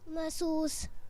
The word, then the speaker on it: محسوس: محسوس۔ محسوس۔ چلیں دیکھتے ہیں کہ اس کا صحیح تلفظ کیا ہے۔ محسوس، میم کے اوپر زبر ہے، ٹھیک ہے؟ محسوس آپ میں سے اکثر نے ٹھیک بتایا تھا کہ یہ محسوس لفظ ہے۔ تو جی اب اگلے